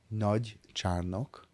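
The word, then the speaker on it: Nagycsarnok: Sorry, how do you pronounce that? Nagycsárdok.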